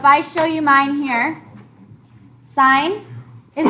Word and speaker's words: sine: common trig ratios are sine that's how you pronounce it sine cosine and tangent so the abbreviation for sine